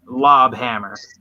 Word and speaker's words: Lobhammer: But his name, this guy's name, is Lobhammer. Mm. You know, like a lobster with hammers.